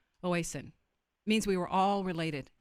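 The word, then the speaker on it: Mitakuye Oyasin: The other one, Mitakuye, and it's Mitakawe. Yeah, everybody tells me to pronounce this different. Oasin.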